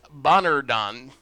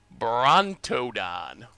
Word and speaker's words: Brontodon: Belligerent Bonardon. Oh man. I swear you all are going to hate me when it comes to pronouncing Ixalan cards. Belligerent Brontodon.